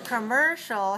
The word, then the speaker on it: commercial: commercial commcial commercial commcial commercial has three syllables and it's dressed on the second one so it's three two